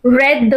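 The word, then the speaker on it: read: change हो जाता है सो how will you pronounce she हैज रेड that book pronunciation इसका आर ई डी रेड होगा spelling will रिमन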